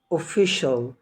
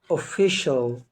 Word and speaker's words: official: تاني هنطق الكلمة تاني special. بعد كده كلمة اجتماعي social، social. تمام. بعد كده كلمة رسمي official، official.